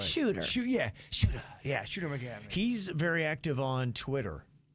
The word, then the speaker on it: Shooter McGavin: I think you called him Skipper McGavin. or something. Yeah, I messed up. Yeah, I think Shooter's right. Shooter. Shooter. Yeah, Shooter McGavin.